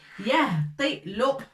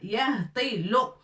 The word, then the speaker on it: يهطل: Avec fatha, on la prononce ya. الهاء on a déjà vu avec سكون ça se prononce he. Ta on a déjà vu avec kasra ça se prononce t. Et lam avec damma ça se prononce lo.